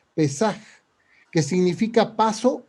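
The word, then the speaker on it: פסח: es una adaptación del hebreo pasaj o pesaj, con acento en la E, pesaj, que significa paso o salto.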